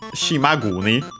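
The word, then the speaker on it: 島国: After that we have finally the noun uh shimagoni should be yeah uh with the uh voicing of kuni because it's a compound.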